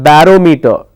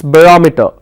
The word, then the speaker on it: barometer: Barometer, it's not barometer. Please don't pronounce that as barometer. Barometer is wrong. It's barometer.